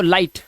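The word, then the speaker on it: light: लाई और जी H silent तो लाइट ऐसे ही फाइट टाइट राइट और नाइट।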